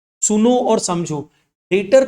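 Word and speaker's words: debtor: वो ऑफिस क्या है डेटर है डेप्टर बी है लेकिन बी साइलेंट होता है बोलते समय डेटर बोला जाता है डी ई बी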